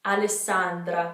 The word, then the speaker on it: Alessandra: have alexandra in english so it's not x we don't have an x we have two s's the e is almost the same so alessandra alessandra you want to hold that